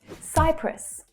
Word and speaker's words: Cyprus: Cyprus, Cyprus. It's the consonant letter Y that creates the stressed vowel sound here. Cyprus. The second syllable is shorter and lower in pitch.